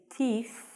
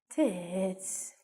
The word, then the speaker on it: teeth: gentlemen boys and girls please be very careful with your pronunciation of the word teeth and tooth especially teeth if you do not stick your tongue out and say teeth it sounds like you say pit tits it sounds like you say tits don't say that so - and teeth you must stick out your tongue - get the pronunciation